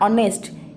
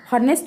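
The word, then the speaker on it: honest: देखो आन ऑनेस्ट एचटा जदि आम देखा एटा तो कॉन्सोनेंट रे जाउची तो एटी आन काहे बसची ना भावेल साउंड पाई ऑनेस्ट आम नॉट हॉनेस्ट कह उच्चारण हुएनी ऑनेस्ट तो आन ऑनेस्ट।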